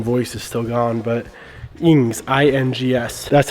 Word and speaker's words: INGS: If you guys can even hear what I'm trying to pronounce, freaking voice is still gone, but INGS, I-N-G-S.